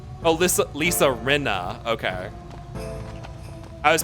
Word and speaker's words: Rinna: Pronounce it like Rima, but with an N. Oh, Lisa Rinna.